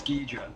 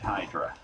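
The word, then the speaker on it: Ghidorah: In Japanese, it's Ghidra. Right. But I think in America, I think that it's we called it Hydra.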